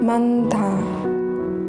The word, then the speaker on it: 많다: Here only first consonant 니은 is pronounced, not 지읒. 안타, 안타, 많다, 많다.